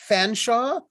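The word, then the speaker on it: Featherstonehaugh: that's it there's also fanshawe which is spelled featherstone hall by the way like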